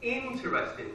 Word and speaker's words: interesting: Next word, interesting, interesting. The stress is on the first syllable.